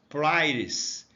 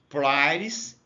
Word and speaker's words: pliers: A pronúncia é meio diferente porque o I em inglês ele tem um som de A. Pliers. Pliers é isso aqui que você está vendo aqui, né?